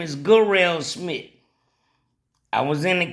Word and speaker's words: Garelle: I know people say his name Jarrell, but in there they call him Garelle, cause it's spelled Garrel. Yeah, yeah. Let me see. Yes, I can spell Garelle. It's G-A. Hold on. It's Garelle. So G-A is not J.